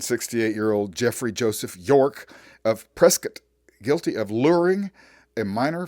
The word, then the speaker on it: Prescott: we are going to start our out in Prescot Arizona that's right it's pronounced presc not Prescott in fact the other day a very cool